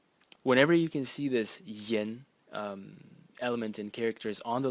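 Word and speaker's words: 言: And the semantic element is this part over here, which is pronounced yen, and it means, it's a radical which is translated as words.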